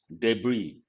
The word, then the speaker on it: debris: land slips paradigm catastrophe debris the letter s is silent and frantic and today